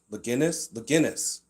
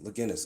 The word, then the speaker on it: Leginis: So, Leginis with a hard G. Leginis. Okay, that's better. Leginis. The hard G? Leginis. Gin like the drink.